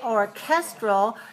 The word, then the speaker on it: orchestral: to three two and we say orchestral then we have to have a strong puff of air because we shifted the stress to the second syllable that begins with a